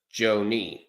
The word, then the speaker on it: Joie: touched by the Tigers it's not Johnny it's Joie Joie I wasn't sure how to pronounce it to be honest